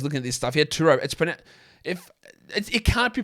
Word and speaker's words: Turo: Many Turo hosts can even deliver the car right to you.